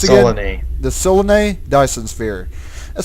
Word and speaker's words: Solanae: Specifically, we're in the Solenius... how's that pronounced again? Solanae.